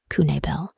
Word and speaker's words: Knabel: people goes missing herself Andrea Michelle kabel pronounced kunel was a 37-year-old old